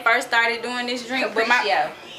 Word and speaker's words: Capriccio: Okay, this is how you pronounce this. I wanted to do it when they first started doing this drink. Capriccio. Capriccio.